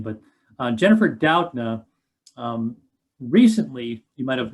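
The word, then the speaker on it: Doudna: i'm sorry uh d-o-w-d and then like nuh kind of thing that's how you pronounce her last name but uh jennifer doutna um recently you might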